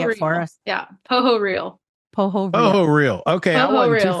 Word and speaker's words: Pohorylle: Pohorylle. Pohorylle. Okay. I wasn't Pohorylle. too far off. See, I'm from Eastern Kentucky. So my initial reaction was, Pohorylle. Pohorylle. It's like a crocodile.